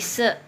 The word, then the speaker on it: si: Nah, S ketemu I, nah ini juga jadi se ya, bacanya bukan si ini ya, tapi se.